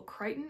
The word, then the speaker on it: Crichton: that is timeline by michael crichton i think is how you pronounce his last name and it is